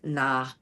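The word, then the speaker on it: Nahuatl: Um, and then I'm not I'm probably not going to pronounce this correctly, but it's na nah.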